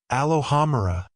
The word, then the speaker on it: Alohomora: "Alohomora," James whispered encouragingly. Emphasis on the second and fourth syllables.